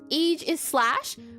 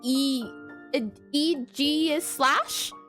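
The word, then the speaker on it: Aegislash: And I always thought it was pronounced age is slash, but it pronounced e eg is slash.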